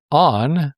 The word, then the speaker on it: Onn: is to buy a device from ON. That's spelled ONN.